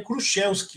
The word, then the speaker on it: Kruszewski: Então, né, Kruzielski, né, como se diz em português, né, em polonês, né, em polaco, aí o SZ tem som de sh, né, então seria Kruszewski lá na Polônia, mas aqui no Brasil todo mundo fala Kruzielski.